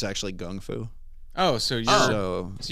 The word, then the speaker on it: Kung Fu: Like Kung Fu or Well, Kung Fu is just how Jiu-jitsu. Americans say it. It's actually Gung Fu.